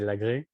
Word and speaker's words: Lagrée: name is and i would say in french you say lagree so i come from